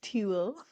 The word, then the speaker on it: Tewl: By the way, it is spelled Tewl, not Tool. It's Tool. Tool. Tool, like ew.